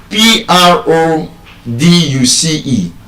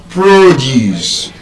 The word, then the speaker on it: produce: So, for example, we have this word, p r o d u c e. How would you pronounce that word? Now, again, as a noun, it will be what? Produce, as an agricultural produce.